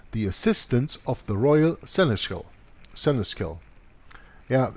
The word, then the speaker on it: seneschal: assistance of the royal seneschal. Yeah, it's interesting. I have problems pronouncing that word. So it is pronounced like this. Seneschal.